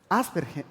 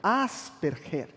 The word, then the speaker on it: Asperger: de asperger es así que se pronuncia la pronunciación asperger asperger a un tipo de autismo y una de